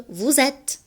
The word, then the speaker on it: vous êtes: نلاحظ الاس مع الاو تلفظ كأنها زو. Vous êtes.